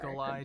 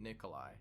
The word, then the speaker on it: Nikola: Because many people in the West, at least, are more familiar with the name Nikolai, rather than just Nikola, which is Tesla's actual first name.